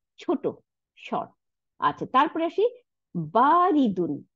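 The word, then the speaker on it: بَارِدٌ: আচ্ছা, তারপরে আসি বারিদুন, বা আলিফ জবর বা, এক আলিফ টান, রর নিচে যে, দালের উপর দুই পেশ, বারিদুন, বারিদুন মানে ঠান্ডা, কোল্ড।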